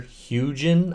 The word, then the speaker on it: Hugin: have this program here hugin I believe I'm saying it right I don't think it's huging I think it's hugin because you know panoramas are huge it's a hugin so anyways um I'm